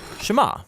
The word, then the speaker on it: שמע: is hear or listen which in Hebrew is pronounced Shama that's where the prayer gets its name now